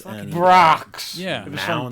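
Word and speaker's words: Brach's: Brock's. Yeah. It was from Mounds. Brock's. Anything from Brock's. Ugh. Like, it Ugh. rhymes with rock.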